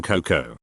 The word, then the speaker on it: cocoa: That you don't pronounce the A in cocoa.